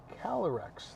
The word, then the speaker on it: Calyrex: You did not catch a Calyrex.